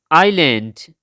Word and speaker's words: island: Island, जजीरा. इसमें जो एस है ये साइलेंट है. इसको प्रोनाउंस नहीं करना. Just island, island.